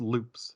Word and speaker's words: Lups: It's spelled LUPS, but it's pronounced loops.